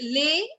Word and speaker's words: les: What is lay? L-E-S. It's called lay.